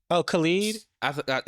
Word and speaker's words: Khalid: That's Khalid. Oh, Khalid.